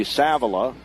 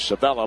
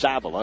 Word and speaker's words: Savila: with three turnovers here going to be savila thought it was Savella but it's savila of course they don't put